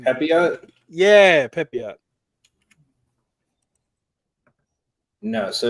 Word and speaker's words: Pepiot: Yeah, Pepiot.